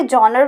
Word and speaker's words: genre: अब ये जो GENRES लिखा है, इसे जॉनर भी बोलते हैं, जॉनरा भी बोलते हैं, right. So don't be confuse कि मैं रॉन्ग प्रोनाउंसिएशन कर रही हूँ। इसे आप दोनों तरीके से प्रोनाउंस कर सकते हैं।